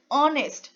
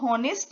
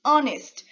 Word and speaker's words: honest: Again, I am reminding you that this is pronounced as honest. इसको honest नहीं बोलेंगे, it's honest.